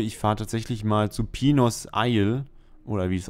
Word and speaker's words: Pinos: Nee, Pinos ja nur, wenn so eine Welle auf dem I ist. Nicht auf dem I, auf dem N natürlich. Ist Spanisch. So.